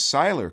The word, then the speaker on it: Sailer: It is Seiler, correct? Yep, it is. You got it. You pronounced it right.